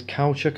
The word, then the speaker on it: caoutchouc: It has the caoutchouc bezel, the quarter of the dial is caoutchouc, I think is the way you pronounce it.